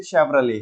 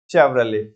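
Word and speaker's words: Chevrolet: हाँ जी, तो बड़े प्यार से बोलेंगे इसे, वो टी तो साइलेंट ही रहेगा, बड़े प्यार से बोलेंगे इसे शेवरले। क्या बोलेंगे? शेवरले। तो अब इन्होंने ब्रांड, अब देखो ना, तो इतना चलता नहीं है ये।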